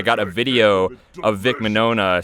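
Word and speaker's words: Mignogna: i did meet vic monona i'm pretty sure it's pronounced i think the g is silent i met him at a an anime convention in 2013.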